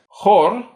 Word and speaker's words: хорь: This contrasts with so-called soft consonants, where the front of the tongue is brought close to the hard palate, giving a higher pitched, palatalized sound. Examples include rad, glad, and riad, row or line. Rad, riad, rad, riad. Chor, choir, and chor, polecat. Chor, chor.